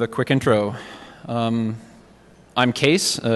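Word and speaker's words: Kees: quick intro um I'm case uh it's pronounced case the spelling is Dutch and it's my grandfather's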